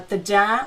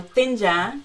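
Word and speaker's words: Thingyan: my experience of uh taja or thinja two ways to pronounce uh the the new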